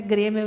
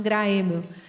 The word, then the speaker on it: Graeml: Gremio, que é alemão, e escreve G-R-A-E. Não falo nada de alemão, mas diz que o A-E em alemão pronuncia E, por isso que a gente pronuncia Gremio e não Graemio.